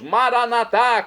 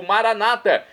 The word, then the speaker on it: Maranatá: E agora eu clamo do aramaico, dialeto de Jesus, Maranatá, como dizemos nós católicos, ou Maranata, como dizem nossos irmãos separados, os evangélicos ou protestantes. Não importa a pronúncia, o significado é o mesmo.